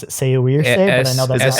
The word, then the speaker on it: Saoirse: I always pronounce it Saoirse, but I know that's not Saoirse. It's Saoirse.